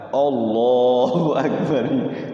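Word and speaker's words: الله أكبر: Iya heeh benar Iya jadi penginnya kalau lafaz Allah itu bacanya O aja ya memang sering itu kalau kitanya enggak ngaji M sampai seterusnya Allah bae Allahu Akbar padahal kan fathah itu pakai a Hamzah itu a Allahu akbar termasuk azan Allahu akbar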